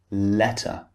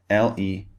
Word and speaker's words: letter: Water, or for example, letter, L-E-T-T-E-R. In American English, this would be letter, letter. In British English, the T is clearly pronounced.